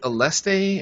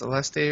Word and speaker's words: Aleste: saw was is it aleste and power strike is that how you pronounce aleste or something I these Al ala ala but yeah we say alest I say alest anyway everybody everybody always